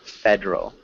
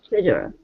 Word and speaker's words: federal: your reading maybe federal federal federal CL fedal Federal Fed so remember we don't pronounce this e so it's just two syllables fed Federal Federal good